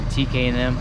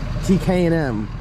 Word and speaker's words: TKM: what up talk to the people going to tk and m t k m why didn't all right it's tkm performance why